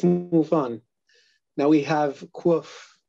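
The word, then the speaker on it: Quoof: Now we have Quof. Is that, am I pronouncing this right? Quof? So far as I know, yes, I believe so.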